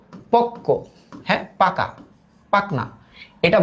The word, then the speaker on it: পক্ক: পক্ক, এইটা শব্দটা যখন আমরা বলি উচ্চারিত রূপ আসছে পক, তারপরে আসছে কো, পক্ক।